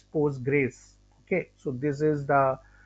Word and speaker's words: Postgres: graes so basically uh we don't call a Poe gray SQL we just call as post Grays okay so this is